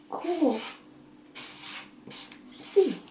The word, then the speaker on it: Kako si: Kako si?